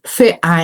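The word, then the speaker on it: Verein: Em alemão se diz fe a e se escreve v e r e i n. F a. Quando você tem um v, ele é pronunciado f.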